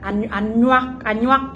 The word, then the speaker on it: Anuak: And we also have the Anuak people or the Anua people, depending on how you pronounce it. But I do believe they are called Anuak people.